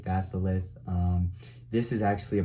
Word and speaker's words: batholith: batholith that's how that is how you say batholith um this is actually a part of Earth's